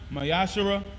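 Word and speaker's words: מעשר: 3 verse 8 through1 means 10 in Hebrew and is pronounced mayash 10% of every penny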